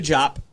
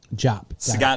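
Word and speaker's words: Diop: khalifa diap their second leafy job job remember yeah yeah that's how you pronounce it they're not related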